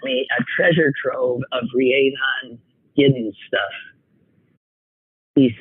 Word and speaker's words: Rhiannon: And he says, when it comes to pronunciation of her name, think about it's Fleetwood Mac. That's it. The Fleetwood Mac song. Rhiannon.